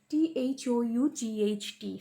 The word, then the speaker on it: thought: Thought, THOUGHT. See here, GH is silent. Thought.